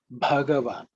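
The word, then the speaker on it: भगवान: Pay attention to the first letter, which is Bha, which sometimes people may not pronounce as Bha. People tend to sometimes pronounce as Ba, Bhagavan. No, it's Bhagavan.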